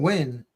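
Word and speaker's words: Nguyen: here the most so whenever you have ngu y n you know how to pronounce that right this is probably gonna mess you up that's what I try to do like Dustin win is right it's wi W wi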